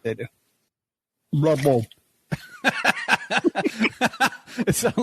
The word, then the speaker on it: Louisville: Lovell.